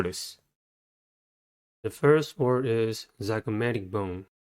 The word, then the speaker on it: zygomatic: the first word is zygomatic bone the chromatic has four syllables and the stress is a third one the first syllable is